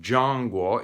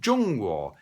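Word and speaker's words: 中国: to the idea that it's not john guo it's jung-woo and really wherever you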